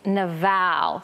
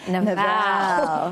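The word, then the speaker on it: Nabal: Abigail's husband and I love the Hebrew pronunciation of his name it's nval so just say it with me Nal and it just makes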